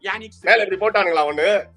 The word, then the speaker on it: Jannik: 'J' is silent here. It is Yannik Did they put a cone on that J?